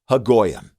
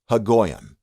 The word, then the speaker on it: Haggoyim: Well, you say that Haggoyim, Haggoyim, Haggoyim. So it's often said huh-ROH-sheth-Haggoyim together.